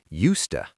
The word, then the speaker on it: used to: Pronunciation used to how do you make it negative?